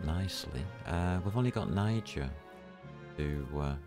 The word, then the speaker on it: Niger: got Niger who uh I'm not pronouncing that the way it's been malformed by the Americans g e are I know how they pronounce it and I disagree I call it Niger they use it in